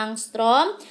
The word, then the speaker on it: angstrom: ini ya angstrom ini Ini bacanya angstroms dimana satu angstrom itu